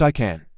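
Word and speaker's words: ICANN: TLD dis is called ICA and and pronounced I can which stands for internet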